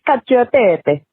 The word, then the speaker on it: cacio e pepe: Hey, I'm just listening to today's episode, and you're talking about cacio e pepe. Is how you said it. This is how you say it. Cacio e pepe.